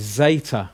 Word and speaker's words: zeta: a DS it so if it's in the middle of a word like after an iota it's going to have a DS edit dessert sound but